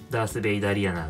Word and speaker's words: darthvaderiana: ースベイデリアナとかとも読めるんですけれども、僕はダースベイダリアナって読んでます。